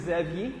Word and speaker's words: Xavier: Yeah, my name is Xavier. It's a French name, Xavier.